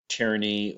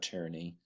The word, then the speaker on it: tyranny: Uh notice that the Y makes a kind of I sound like a short I vowel sound and then there's another Y at the end.